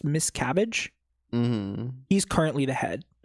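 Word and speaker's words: Miscavige: Um, so basically one of his lieutenants uh called David Miscavage, I think it's pronounced Miss Cabbage.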